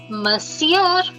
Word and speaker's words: Monsieur: We won't say mo. We will say ma. Ma. Si. And you know EUR. Monsieur.